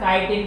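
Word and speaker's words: chitin: चिकन नहीं है, काइटिन। अरे चिटिन, चिटिन नहीं है ये, अंग्रेजी इसकी जो प्रोनाउंसिएशन है ये काइटिन है, KITIN नहीं है, ये काइटिन, ठीक है।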